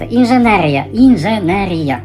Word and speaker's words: инженерия: Давайте поговорим об инженерии Маша, правильно говорить инженерия. Инженерия – это один единственный правильный вариант до сих пор не могу привыкнуть, но я тренирую.